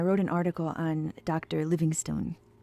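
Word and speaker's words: Livingstone: Livingston. It's spelled like stone, so I always want to say it both ways.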